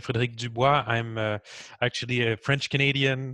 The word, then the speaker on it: Frederic Dubois: I'm with Frederic Dubois. Am I pronouncing it right?